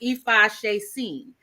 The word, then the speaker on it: Ifaseesin: they coming for me like why but it's pronounced EPA Shen and yes basically epha is easy to worship